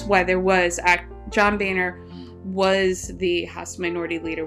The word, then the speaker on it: Boehner: John but I don't even remember how we pronounce it Boehner boner for to 233 votes to 202 votes and